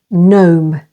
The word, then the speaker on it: gnome: syllable though and way and before n in these words campaign with the stress on the second syllable campaign foreign with the stress on the first syllable foreign and gnome and if you don't